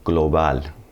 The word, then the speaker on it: global: Normally G is going to have a really hard G sound like in the English word gone. Global, gradual.